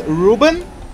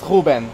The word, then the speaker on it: Ruben: Ruben Ruben but yeah most English people because of the accent they pronounce Reuben but in Portuguese my name is pronounced Reuben so well thanks man